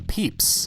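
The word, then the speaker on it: Pepys: also mentioned that the peeps in samuel peeps is spelled PEP ys against all odds and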